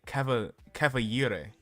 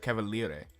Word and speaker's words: Cavaliere: They tried to use the Italian pronunciation but said it wrong. They said Cavaliere instead of Cavaliere. They pronounced it with a Y instead of an L.